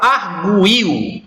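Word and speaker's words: arguir: Na palavra arguil, percebam que quando eu pronuncio arguil, vejam que ar, uma sílaba, gu, duas sílabas, il, três sílabas. Esse U, ele não é pronunciado de uma maneira tão intensa a ponto de formar uma sílaba isolada.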